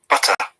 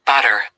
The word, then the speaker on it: butter: And also in British English, letter T, we pronounce a strong letter T, whereas in American English, letter T is pronounced as a flap T, that it sounds like D.